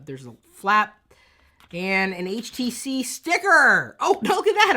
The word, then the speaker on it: HTC: uh two of you it's HTC not htic htic is not how you pronounce this word it is it is HTC HTC HTC if you're from the UK or Australia not hitk uh we also have